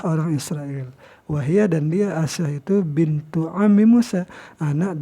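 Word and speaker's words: آسية: Bimaddil hamzati, dengan membaca panjang hamzahnya, wa kasr sin, dan kasrah sin, asi, jadi kan, wa takhfifil ya'i, dan tidak ditasdidkan ya-nya itu. Jadi siapa Asyah ini?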